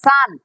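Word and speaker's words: son: নাকি কাটলাম, কি দিলাম, এটা তোমরা উচ্চারণ করছো এস ও এন, সন বলে ফেলছো, এই কারণে আমি এটাকে কেটে দিলাম, কি করলাম আমি এটাকে কাইটা কিন্তু দিলাম। এইটার উচ্চারণ যেটা এস ইউ এন, সান, এস ও এন, এইটা হচ্ছে উচ্চারণ সানে, এটার উচ্চারণ করা লাগবে সান।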